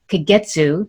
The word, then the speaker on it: Kagetsu: all over and today i have dr nolan kagetsu did i pronounce that correctly yes okay excellent joining me